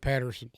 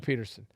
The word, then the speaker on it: Pederson: such an interesting yes did i say his name wrong he said patterson oh excuse me doug peterson okay my bad um